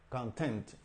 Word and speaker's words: content: está utilizado como sustantivo esta misma palabra se puede utilizar como verbo y la pronunciación cambia ahí la fuerza de la pronunciación o el Stress que hay en la segunda sílaba aquí no verdad content content content ahí como verbo Okay y lleva el significado